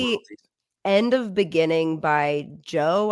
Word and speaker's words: Djo: End of Beginning by Joe. I think that's how you say his name. It's DJO.